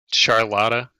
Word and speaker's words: Charlotta: gonna play Charlotte dude charlotta charlotta that's how you say it yeah dude you know